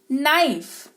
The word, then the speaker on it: knife: 7 number की बात करते हैं स्पेलिंग रूल की, कि किसी शब्द के शुरुआत में अगर के और एन एक साथ आता है तो के का उच्चारण नहीं किया जाता, और ये भी बहुत कॉमन है, बहुत कॉमन, ठीक है।